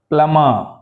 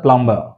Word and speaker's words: plumber: subtle అనాలి సప్టిల్ అనకూడదు subtle subtle subtle right ప్లమర్ నాట్ ద ప్లంబర్ ప్లమర్ ప్లమర్ ఓం ఓం నాట్ ఓం క్రం క్రం